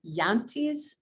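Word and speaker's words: Jante: the question could you provide your perspective on yante's law is that am i pronouncing that right yes and how that how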